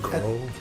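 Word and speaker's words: Grøh: Grohl?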